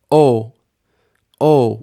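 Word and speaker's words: או: how about this word o o we only hear that vowel sound right because just makes an o sound and Alf is silent o means or either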